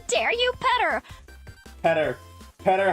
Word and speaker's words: Peter: Peter's name should be pronounced Petter, actually. True. It comes from the Greek Petros.